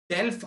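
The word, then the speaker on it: Delft: The first island is टेल्फ island, T is silent.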